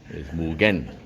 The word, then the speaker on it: Mugen: bikes have this again it's pronounced Mugen not Mugen here Mugen get it right which means no